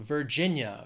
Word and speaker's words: Virginia: Vermont Vermont next is Virginia three syllables stress is on that second syllable Virginia Virginia and an expression